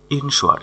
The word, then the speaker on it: insure: ইনশোয়ার INSURE, ইনশোয়ার এখানে আর এর উচ্চারণ হবে না, ইনশোয়ার অর্থাৎ নিশ্চিত করা।